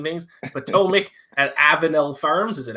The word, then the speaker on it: Potomac: how you pronounce it thank you king of mispronouncing things potomac and avenell farms is it aveno i have